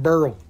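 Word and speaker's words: beryl: this is green barrel burl burl they pronounce it burl we got him the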